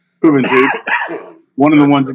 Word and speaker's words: Juventud: I know that's not how you say it. Juventud.